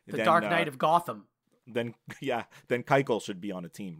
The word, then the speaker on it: Keuchel: The pitcher that should have been signed by now that hasn't is Dallas Keuchel, who you can't pronounce his name. Keuchel.